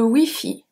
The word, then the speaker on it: Wi-Fi: So while it's exactly the same, even though we don't have the dash, the pronunciation is very different because we don't have the Y in French. We only have E.